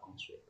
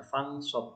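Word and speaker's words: فانصب: Fa idza faraghta fansib. Ini salah ya, harusnya fansab bukan fansib.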